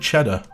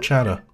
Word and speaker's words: Chatter: And like, you just want to pronounce it Cheddar, not Chatter.